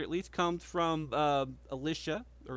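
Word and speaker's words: Elisha: That's Alicia, right? Alisa. It could be. Yeah, I would say Alicia.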